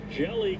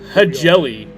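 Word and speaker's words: Hjelle: Oh, it's jelly. But I guess the H is silent.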